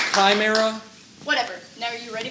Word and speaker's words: chimera: It's the chimera. That's right. That's right. It's actually pronounced chimera.